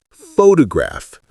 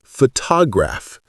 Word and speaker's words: photograph: Number 1, photograph, not photograph.